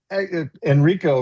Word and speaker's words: Enrico: Well, Enrico rhymes with expert, so that's an easy way to remember that.